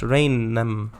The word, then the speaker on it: Rainham: Pronounced Rainham.